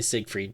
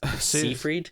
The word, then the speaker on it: Seyfried: say your last name I always want to say Siegfried but it's soon freed so if we see